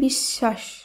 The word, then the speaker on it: বিশ্বাস: একইভাবে বিশ্বাস, এর শুদ্ধ উচ্চারণ হবে বিশ্বাস।